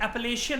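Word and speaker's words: Appalachian: ऐसे ही north America के अंदर जो माउंटेन्स हैं, इनकी प्रोनाउंसिएशन होती है एपलेशियन माउंटेन। मैंने आपको बताया था ये थोड़े टाइम पहले, एपलेशियन माउंटेन।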